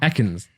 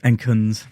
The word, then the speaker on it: Ekans: Ekans. How do you say it? Enkins.